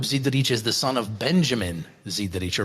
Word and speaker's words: Benjamin: Uh Jacob Zidarich is the son of Benjamin Zidich or Benyamin if we want to use the uh the Italian pronunciation who started bottling his wines at the Zidic winery in the late 1980s.